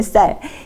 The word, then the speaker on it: 쌀: 하면서 보면 부산 분들이 뭐가 안 되냐면이 쌀이라는 발음이 안 되더라고요 쌀 우리가 먹는 쌀 이게 이제 아이도 그래요 아이도 꼬마도 살이라고 발음이